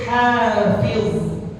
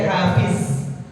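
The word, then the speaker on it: حافظ: Terus hafiz, huruf dha. Ya, huruf dha. Ya, jangan diganti jadi zai. Hafiz, bukan hafiz, tapi hafiz.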